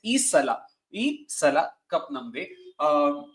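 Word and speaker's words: ಈ ಸಲ ಕಪ್ ನಮ್ದೆ: I'm also getting the pronunciation wrong because everyone's butchered it by calling it Isala, Isala. So I hope I'm getting it right. It's Isala cup namde.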